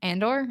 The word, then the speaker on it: Andor: I heard Andor.